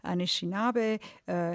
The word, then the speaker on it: Anishinaabe: So you have already mentioned that your father is French and your mother is, am I pronouncing it correctly, Anishinaabe. Yes. Anishinaabe.